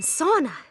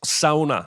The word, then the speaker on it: sauna: Palace bed earlier oh and sauna it's pronounced sauna oh no and if